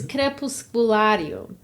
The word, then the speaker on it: Crepusculario: It's crepusculario. Crepusculario is how you say it.